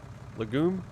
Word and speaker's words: legume: versus oil seed uh somebody pronounced that leg um lagoon lagoon legume legume that's what it is it's a legume uh